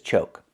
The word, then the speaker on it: choke: The first word is choke. We see we have a silent e at the end. When you have a silent e at the end of a word, we know the previous vowel is long. So, we need the o sound like coke. CocaCola. O like no and go.